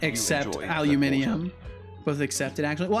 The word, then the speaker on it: aluminium: the word aluminum oh aluminium you mean it's the perfect amount of laziness and preciseness I mean yeah aluminum is the the bastardized version of um of aluminium which is the the proper pronunciation right yeah it it